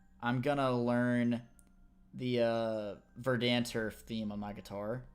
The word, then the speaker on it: Verdanturf: Actually, it's pronounced Verdanturf?